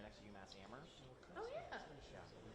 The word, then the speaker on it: Amherst: Amherst. That's how it's say That's it. the locals. Yeah, it's Amherst. The H is silent.